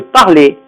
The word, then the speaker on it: parler: On ne prononce pas le R et le E est fermé. Par exemple, parler, cahier, etc.